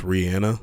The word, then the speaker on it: Rihanna: By the way, I know it's pronounced Rihanna. I just say Rihanna because everybody else does.